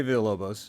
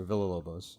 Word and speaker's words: Villalobos: guest i mean like let me run you through the ways to pronounce my name um so you can say via lobos or via lobos or villalobos or villalobos or vigalovos or wow yeah it's